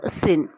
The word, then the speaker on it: Tsin: था अनंसी का, क्विको सिन, क्विक सिन जो है ना STSIN, टी साइलेंट है, ठीक है, जिन वैसे